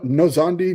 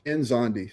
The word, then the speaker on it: Nzondi: You know, because I wasn't sure if I was supposed to pronounce the N or not. Yeah. Some people say no. No Zandi. No. You know, I'm like, no, it's Enzandi.